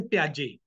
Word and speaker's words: Piaget: It is pronounced as a Piaget.